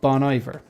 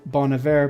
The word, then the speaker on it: Bon Iver: of people pronounced it Bon Iver but it's actually called Bon Iver because it means good winter in French or something like that